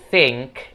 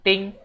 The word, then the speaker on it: think: Dan juga untuk penyebutan think, itu teman-teman jangan bilang think. Karena tulisannya di sini TH, jadi itu bacanya sa, yang lidah digigit gitu guys. Jadi bukan think, tapi think.